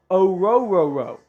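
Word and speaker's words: Orhorhoro: But it is quite literally Rook, as in it rhymes with juke, O-ro-ro-ro. Let me see if Clemson's website has a different pronunciation. Yeah. Nope. It's O-ro-ro-ro. Pretty crazy.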